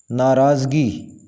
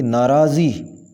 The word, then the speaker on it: ناراضی: پیش آئے گی وصول۔ ناراضگی، صحیح لفظ اور اس کی ادائیگی اس طرح ہوگی ناراضی، ناراضی۔ منعن، منعن، اس کو